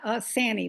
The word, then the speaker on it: Sani: Yes, Sani, like Danny, except Sani.